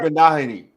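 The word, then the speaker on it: Igbinoghene: Igbinogany. Igbinogany. Igbinogany. Is that it? The G is silent.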